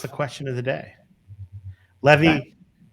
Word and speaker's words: Levy: Levy rhymes with Chevy.